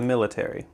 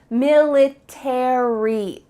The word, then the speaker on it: military: a book about the military in american english you're going to pronounce each of the final letters a-r-y military in british english they often cut out the a so instead of military